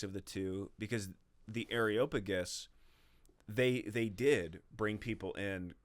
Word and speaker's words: Areopagus: So they take him to the Areopagus. Is that how you say it? I usually say the Areopagus. Areopagus. But Areopagus is also Areopagus, whatever it is. Areopagus is not correct. I like it though.